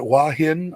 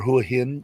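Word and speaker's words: Hua Hin: And especially if you're going to, now how you say it, Wahin or Huahin? Wahin? However you want to say it, Dave. Wahin? Good enough. Yeah, but if you say Huhin, they wouldn't know what I was talking about.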